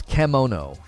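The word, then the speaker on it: kemono: down the door um the pronunciation is camono oh it means beast in Japanese oh it's not kimono it's kimono sorry um am I saying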